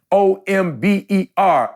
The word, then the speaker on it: hombre: hear now the word hombre oh okay the H is silent I get it OMB er I got it I